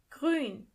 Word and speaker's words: grün: Green means grün. Grün. In this word, for example, you have to pay a little bit more attention to the letter ü.